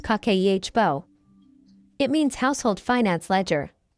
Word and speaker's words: Kakeibo: In 1904, a Japanese journalist named Hanimoto created a method called Kibbo, pronounced kakehbo.